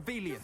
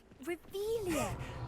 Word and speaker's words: Revelio: You're Revelius. saying it wrong. Ugh, Revelia. Much better.